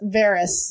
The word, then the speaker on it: Varys: It's Varys. Varys.